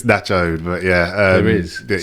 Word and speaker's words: Nacho'd: I've got DJ from Nacho'd. It is. Is that how you say it? Yeah, pronounced correct. I didn't want to say it wrong. No. Yeah, at least you didn't say Nacho'd, which is Nacho'd.